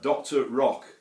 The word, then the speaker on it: Doktor Rok: a f pedal by a guy called uh Dr Rock and if you want that spell that is d k t o r r